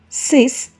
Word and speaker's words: six: take one more example the number six is pronunciated as sis in French s e x is